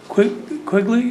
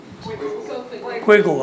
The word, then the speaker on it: Quigley: Next up is Sherry Quigley. Did I pronounce that right? Quiggle, I'm sorry.